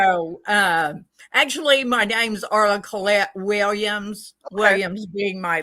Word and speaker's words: Cailleach: It's pronounced many different ways. It's a Celtic name. Okay. So actually my name's Arla Cailleach Williams.